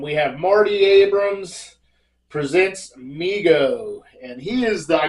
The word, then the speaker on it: Mego: to overwhelming overwhelming demand Migo pronounced Migo Corporation was started by his father David Abrams in 1954 and named by his younger brother Howard who would say migo to so that's pretty